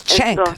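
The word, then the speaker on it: Cenk: is really promoting this his name is chank chank CH yeah chank y I know he's really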